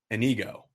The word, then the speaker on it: Inigo: for the student agency student run advertising agency anigo am I correct on that pronunciation um yes you're perfectly correct so we're